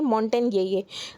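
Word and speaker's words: Montagnier: यहाँ पर इनकी डेथ हो गई है, जिनका नाम है लुक मॉन्टेन ये यहाँ पर प्रोनाउंसिएशन है कि यहाँ पर मॉन्टेग्नियर है, पर उसको प्रोनाउंस करते हैं मॉन्टेन ये।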